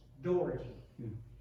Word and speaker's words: Daugherty: weston woods on james doherty and he referred to his wife as mrs dougherty so i've learned to pronounce it as if it were an old door um i would like